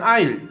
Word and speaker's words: isle: 그래서 an isle 하는 거. 발음도 isle이라고 그러죠. 얘들은 예, isle. S는 또 묵음이 돼버립니다.